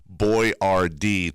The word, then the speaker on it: Boiardi: He decided to name his product Boyardee to help Americans pronounce his name correctly.